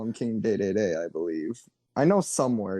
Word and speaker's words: Dedede: to smash bros but king dedede is pronounced king day-day-day everywhere else in the world i believe at least